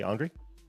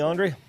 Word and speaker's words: Andry: Yeah, so Give, my name is Andry. It rhymes with laundry. oh, okay, Andry.